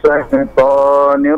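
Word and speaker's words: الشيطان: A'udzu billahi minas syaitonir rajim. Baik, sebentar. Sya-nya coba masih tadi. Sya seperti asyhadu. Jadi nafasnya banyak ya, menyebar.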